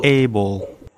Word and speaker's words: able: made, এই শব্দটা কিন্তু আমরা ভুল উচ্চারণ করি, আমরা অ্যাবল বলি, আই এম এবল টু do that. এটা অ্যাবল না, এটা হচ্ছে এইবল, able, এইবল, এইবল, কেপেবল, কেপেবল, এইবল।